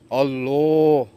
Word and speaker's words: আল্লাহ: কঠিন হিসাব দিতে হবে আল্লাহ এর নামটাও সবাই উচ্চারণ করতে পারে না এর আইন বুঝবেন কেমনে আল্লাহ হবে না আল্লাহ লামডারে মোটা করে কইতে হইবে যিনি আমাদের সৃষ্টি